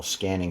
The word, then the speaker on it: SQANNING: for another session on what I call scanning spelled with a q s q a n n i n g if this is your